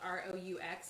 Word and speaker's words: roux: and basically what you're doing is making a roux now if you don't have a crock pot like mine so this is like a soup i think it's spelled r-o-u-x a roux and it's the flour base that